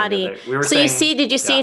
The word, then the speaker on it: Hati: Hati. Did you see it's inactive? So is it a she or a he? I want to say it's a she. Sounds like a girl. Sounds like a girl. Hati.